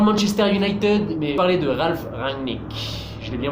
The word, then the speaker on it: Ralf Rangnick: Je me prononce pas pour une équipe mais j'adore le Manchester United, mais parler de Ralf Rangnick. Je l'ai bien prononcé, Ralf Rangnick.